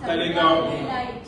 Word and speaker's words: Taleigao: So all the members of Talegaon, how it's pronounced? Talegaon.